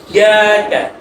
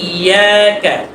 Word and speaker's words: إياك: إياك আবার ইয়াকা ইয়াকা বললে হবে না, তাসদীদ ধরতে হবে।